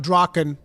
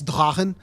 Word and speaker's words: Drachen: But actually, it's not Drachen. It's Drachen. I always pronounce it Drachen because it made people upset because it is a German pronunciation. And therefore, Drachen is the proper way of saying it.